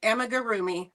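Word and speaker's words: amigurumi: So, amarroomi. I finally learned how to say it right. Amagarroomi.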